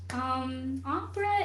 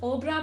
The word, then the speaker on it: opera: Opera is it's not pronounced obra, by the way. It's pronounced opera.